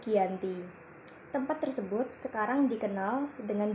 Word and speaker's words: Giyanti: tanggal 13 Februari 1755 nama Giyanti diambil dari lokasi penandatanganan perjanjian yaitu di desa Janti dalam pelafalan Belanda disebut Giyanti tempat tersebut sekarang dikenal